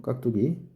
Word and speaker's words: 깍두기: 깍두기 수능에도 나왔죠. 이것은 깍두 기역과 디귿 안울림 소리 부닥치니까 당연히 두가 뚜로 발음되는 건 너무 당연한 얘기예요.